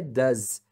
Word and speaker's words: does: né porque aqui ó é does o som final desse s é Z aí quando emenda com